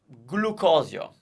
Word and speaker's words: glucosio: Glycerin gcina uh glucose glucosio if it's a scientific word chances are that g is pronounced G but in your life